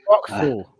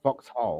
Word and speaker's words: Vauxhall: It's pronounced Vauxhall. Is that the traditional? Like you got the your headroom? accent. It's Vauxhall. It's not Vauxhall.